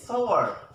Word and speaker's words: sour: The right pronunciation is sour. Word. Shower. The rhyming word of this word is power. Sour, power.